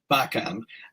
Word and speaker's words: Bakan: So we're pronouncing it with a K, Bakan, in this case.